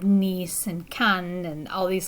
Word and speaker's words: Nice: probably heard of nice before it looks like nice in english but it's pronounced nice in french so the picture we see here